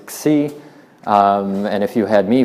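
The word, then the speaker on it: ξ: squiggle which I believe the proper pronunciation in Greek is C and if you had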